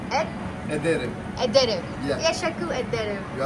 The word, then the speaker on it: ederim: ederim. Ed? Ederim.